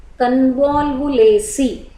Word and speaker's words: Convolvulaceae: One is Convolvulaceae, pronunciation Convolvulaceae.